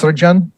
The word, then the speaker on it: Serjan: It's pronounced Serjan, but you can call me Serge.